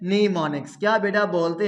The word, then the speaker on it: mnemonics: याद रखना है कि ये जो एम है, एम क्या है कि बच्चे आपने लिखने में एम लिखना है, लेकिन पढ़ने में इस एम को क्या है, आपने साइलेंट करना है। आपने आवाज किसकी देनी है, एन की। तो लफ्ज क्या हमारे पास बनेगा, नीमोनिक्स। क्या बेटा बनेगा, नीमोनिक्स।